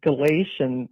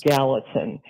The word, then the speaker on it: Gallatin: And um, the river, I believe you pronounced it Galatian, which is a book in the Bible. Um, and actually it's Gallatin.